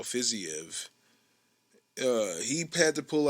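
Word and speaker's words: Fiziev: minute uh raphael fizzy fizzy of fizzyev is what i've heard is is pronounced raphael fizzyev uh he had to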